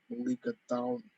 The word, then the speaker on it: mulligatawny: Mulligatawny. Normally, if you're an English speaker, you would pronounce it mulligatawny soup. Tawny. Well, it's an anglicized version of the Tamil word for pepper water or pepper broth.